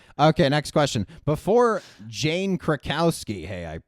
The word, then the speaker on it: Krakowski: Before Jane Krakowski, hey, I pronounced it correctly, who was cast as Jenna in 30 Rock?